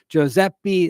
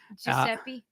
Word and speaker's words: Giuseppe: citizen, Giuseppe Zangara. Giuseppe. Giuseppe. It's Giuseppe? That's how you Giuseppe.